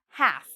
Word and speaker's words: half: Half. So again, half, no L because we have the A here.